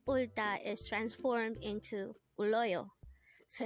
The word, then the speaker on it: 울다: Ulta.